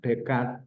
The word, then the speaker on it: Descartes: Makanya Descartes, tahu Descartes ya, filosof dari mana itu? Itu tulisannya René Descartes, tapi bacanya kan Descartes gitu ya.